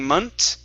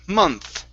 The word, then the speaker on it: month: instead of a t you're saying munt okay so just like if you were to copy someone from spain saying gracias gracias okay or the patos so you want to use the same sound at the end of the word so it's mon mont there you go one more time month month okay that's that's getting better